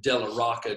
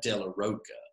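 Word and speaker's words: de la Rocha: So I've always said Della Rocca just because it makes it sound more musical, but I think he actually says that Della Roca or Rocha.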